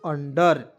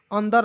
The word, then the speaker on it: under: पढ़ेंगे, हो जाएगा दोस्तों अंडर, ठीक है, अंडर, अंदर नहीं अंडर। बहुत लोग उंडर पढ़ लेता है, बिल्कुल गलत तरीका है दोस्तों, इस तरह से आपको नहीं पढ़ना है, ठीक है।